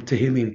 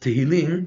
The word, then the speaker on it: Tehillim: Because you see, Rabbeinu took five psukim from Tehillim to prove that the 10 types of song can subdue the Pgam Abrit, and five psukim from Iyov and Mishle.